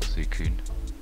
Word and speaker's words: Suicune: Or Suicune. As I've since learnt how it's pronounced.